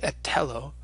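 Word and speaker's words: ἐθέλω: An example of a Greek word with theta in it is the verb ethelo. Othello, which of course in its original kind of pronunciation would have been more like Etello, and it means I am willing or I wish.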